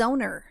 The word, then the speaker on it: zonure: What's a zoner? Zonure? It's a fucking map. Well, no, but usually it's an animal of some sort and it's their skin. Zoner rhymes with boner skin maps.